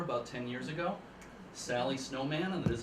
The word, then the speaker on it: Snowman: So they decided to hire a civilian keeper about 10 years ago, Sally Snowman, and that is how she pronounces her name.